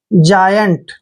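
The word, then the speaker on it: giant: means क्या होता है इसको जाइंट भी बोलते हैं हम क्या बोलते हैं जायंट देखिए यहां पे ऐसे जायंट जाइंट मींस होता है दानव राक्षस पिशाच ठीक है ना जायंट देखिए सही उच्चारण करेंगे तो जायंट सही रहेगा जाइंट मींस होता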